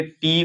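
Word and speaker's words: toe: तो गाइस देख लेंगे, ओ ई अगर शब्द के अंत में आ जाए, किसी भी शब्द के अंत में, तो उसका उच्चारण ओ होगा। तो फॉर एग्जाम्पल के लिए टी ओ ई, इसको पढ़ेंगे टो।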